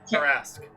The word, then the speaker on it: Tarrasque: So I am going to cast Disintegrate, and I need the how do you pronounce it again? Tarrasque. Tarrasque to roll me a dexterity save.